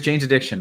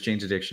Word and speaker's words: Jane's Addiction: so that's fair uh so many people is janees addiction all right it was Jane's Addiction I get it um wow the people knew